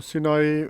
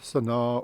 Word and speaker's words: Sinai: Kom ons kyk hier na Sinai, beteken doringrig. En die regte naam dink ek beteken eintlik iets beters. Die Sinai is pronounced as Sanaa or Sina in Egyptian Arabic.